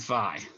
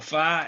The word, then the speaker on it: phi: from cylindrical coordinates and phi which is a new one okay some people pronounce that fee by the way i've